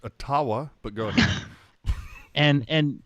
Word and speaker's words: Ottawa: time and you know obviously pronounced atawa but go ahead and